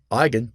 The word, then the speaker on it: Eigen: Eigen, pronounced I like your I, and then again, Eigen, is a German word that means own or innate, as belonging to the parent matrix.